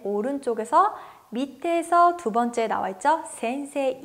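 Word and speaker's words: 先生: 발음을 어떻게 표현 했었죠 센세 이가 아니라 센세 라고 표현을 했었죠 그럼 가운데에서 센세 에 발음 어디 나와 있죠 위에서 4번째 줄에 나와있어요 그리고 히라가나로 발음은 요 맨 오른쪽에서 밑에서 두번째 나왔죠 센세 이 발음 할 땐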